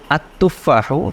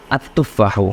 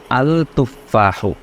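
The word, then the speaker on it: التفاح: আগে তখন হলো আল কিতাবু, কিন্তু যখন বললাম আত্তুফাহ তখন এটা আলিফ লামের উচ্চারণটা হয়নি, হয়েছে আত্তুফাহ। হওয়ার কথা ছিল আল তুফাহ।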